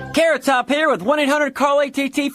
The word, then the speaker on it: Carrot Top: Carrot Top here with 1800 Carl ATT for collect calls. It's as beautifully simple as figure skating. The next skaters are Ctop and Pay phone.